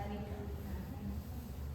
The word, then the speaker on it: Annika: तो कैसे प्रोनाउंस करते हैं? Anika. हाँ. अच्छा, मेरे डॉटर का नाम है एनिका. Yeah, Anika.